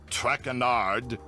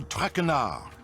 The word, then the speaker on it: Traquenard: As for my name, not Traquenard. It is Traquenard.